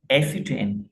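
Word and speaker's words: ascertain: एसिटेन यहां पे आर जो है ना साइलेंट है। हम उसको नहीं प्रोनाउंस करेंगे।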